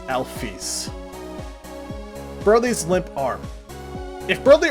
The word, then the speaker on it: Alphys: Alphys' name is pronounced, Toby Fox reveals that it's pronounced Alphys. I might have pronounced her name as Alphys before, but that's because that's how I've used it for a long time, and only recently has it been revealed to me that canonically it is pronounced as Alphys.